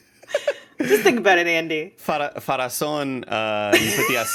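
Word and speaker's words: Pharazôn: Farazan, you put the acento at the final syllable.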